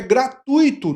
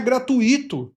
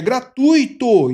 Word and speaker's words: gratuito: É gratuito, não é gratuito, é gratuito. Então, uma palavra paroxítona. E o U é o tônico, tá?